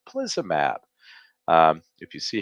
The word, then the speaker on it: teplizumab: that the FDA approved a new drug called teplizumab. If you see how it's spelt, it's not so easy to pronounce, but it's teplizumab, and it is going to be marketed as sealed.